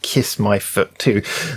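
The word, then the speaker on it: Kis-My-Ft2: foot too anyway yeah apparently pronounced kiss my foot too this seven member group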